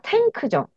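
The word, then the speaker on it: tank: 텐 발음하기가 힘들어요 크 그래서이은 소리가 응으로 바뀌어서 NK은 은가 아니고 은로 발음합니다음네네네 NK 원래는 받침 소리로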